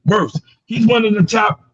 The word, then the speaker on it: Wirfs: Well, I can't pronounce his name. Wirfs.